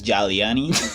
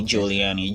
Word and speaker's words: Giuliani: I thought it was Giuliani, and then I was told the you actually pronounce it as oo. So I say Giuliani.